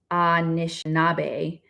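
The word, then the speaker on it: Anishinaabe: Chippewa and is in its original form ashinabe pronounced Anish nabe the word is very loaded and bears a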